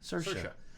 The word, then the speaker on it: Saoirse: Shirley's throne for bombshell say it again sure sharona's Saoirse sir sure then she should spell it that way Little Women Scott